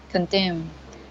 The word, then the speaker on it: condemned: B, and then M, then we should pronounce ED as D sound. Yeah. Condemned.